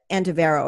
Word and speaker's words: Andivero: um actually also about what you do at antavero am i pronouncing that properly yeah yes so tell me